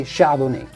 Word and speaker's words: Chardonnay: Chardonnay is great, but in French we would say Chardonnay.